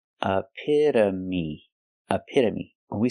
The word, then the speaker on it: epitome: word is epitome epitome the first syllable is uh like cup and up a p use the I sound like this is a a a the t is between vowels so it's pronounced with with a d a fast d a a again we have the short uh sound like cup and up AA a me like me using the long e sound aamy epitome when